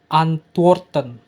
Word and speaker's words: antworten: Coba sekali lagi, antworten. Oke, mungkin masih ada beberapa yang salah. Jadi tengok ini, perhatikan cara bacanya itu an, tuor, tuo, tengok ya tuh. T, W, O-nya itu digabung bacanya. Tuo, tuo. Jadi antworten.